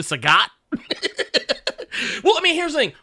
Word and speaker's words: Sagat: we say Shang Tucson we say uh Saget because because of Bob Saget but his name is actually Sagat I mean here's the